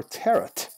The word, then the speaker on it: tarot: the tarot cards there or tear it I like tear it I like the non silent T at the end anyways concerning the tarot